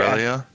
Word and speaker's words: Aurelia: How do you pronounce that? I'm out of character. Aurelia? Yes, Aurelia. Aurelia.